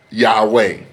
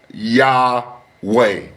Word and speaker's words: Yahweh: But the most accurate name today, ladies and gentlemen, is Yahweh. It is Yahweh, ladies and gentlemen.